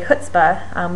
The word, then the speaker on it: chutzpah: Like chutzpah, I went to a very Jewish university, so I often pronounce that first sound with the IPA symbol for X.